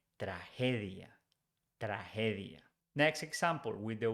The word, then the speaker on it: tragedia: In Spanish, when it's followed by E, G is pronounced like H in English. So we don't say tragedia, we say tragedia.